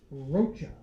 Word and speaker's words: Rocha: Change in pronunciation, it's Rocha.